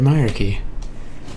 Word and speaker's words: Hierarchy: And here comes, hopefully, the end of In Search of the Hierarchy, which is how you pronounce that, by the way, since nobody seems to know how to.